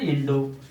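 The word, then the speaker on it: インド: The India will be pronounced in Japanese such as Indo.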